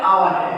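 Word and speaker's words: hour: आवर है कि नहीं? तो देखो एज से शुरुआत हुआ है लेकिन एज क्या है? चुपचाप, एकदम चुपचाप साइलेंट है।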